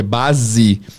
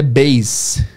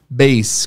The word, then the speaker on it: base: A palavra base, que em português é base, com som de Z, em inglês é base, base, com som de S.